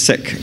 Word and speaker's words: Sikh: Sikh Gurdwara oh I'm sorry I'm still saying seek the proper pronunciation is sick Apparently that is what they prefer um they